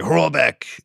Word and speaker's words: Horlbeck: I like Craig's name, but I've also learned how to say it over the last 5 years. Now it's like Horlbeck.